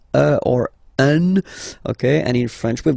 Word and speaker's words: un: to pronounce it like un. So it's what we call the nasal, so it goes in your nose, okay? Un. So if you listen to me, you don't hear any N, okay?